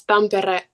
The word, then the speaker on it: Tampere: Um, Forgive me if I don't pronounce the name right, but you grew up in Tampere. yes, Tampere, yeah, that's like the area that I grew up in.